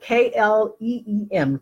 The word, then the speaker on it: Kleem: It is spelled K-L-E-E-M.